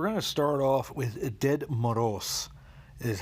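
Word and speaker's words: Дед Мороз: So we're going to start off with Ded Moroz, is how it's roughly pronounced.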